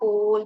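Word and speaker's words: whole: சோ ரெண்டுமே ஹோல் தான் pronounce ஆகும். WH கூட இந்த WH, TH, PH அதெல்லாமே நம்ம இன்னும் படிக்கணும்.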